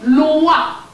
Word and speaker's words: loa: Their Lua is written L-O-I. Our Lua is written L-O-A. Both are pronounced the same way.